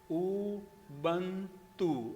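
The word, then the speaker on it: Ubuntu: बं उ बं ठीक है उब का सही उच्चारण क्या देखो उ बं तु उ बं ठीक है अग कई बार मेरा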